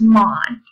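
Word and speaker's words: ማን: So I know this it's pronounced the same way as man, but you don't put the eh sound in it. It's just man.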